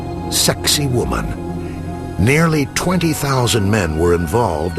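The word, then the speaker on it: Sacsayhuamán: and this one with an Incan name provocative pronounced sexy woman nearly 20,000 men were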